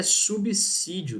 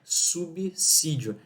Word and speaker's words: subsídio: o essa intervocálico mas aqui nós não temos um s entre vogais né então a pronúncia é subsídio quem fala subsolo não